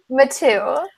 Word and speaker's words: Mathieu: Mathieu.